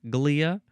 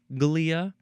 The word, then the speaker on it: glia: So, those cells are relating to the glia, constituting glia, of glia or glia. You can use either pronunciation there. I I'm not going to send you to the police if you use a different one.